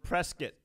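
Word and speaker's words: Prescott: Cruz today live from press kit pronounced like biscuit Arizona we have will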